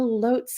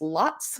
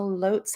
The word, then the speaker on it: Lotz: you probably like me have mispronounced the name of this place for oh say 20 years just like i have um l-o-t-z it's lots it has been lots to me forever um but i have